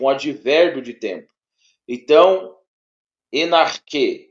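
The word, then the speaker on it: ἐν ἀρχῇ: ar en ar não você não vai ler dessa forma en ar você vai ler junto enarque enar enar enarque tá enarque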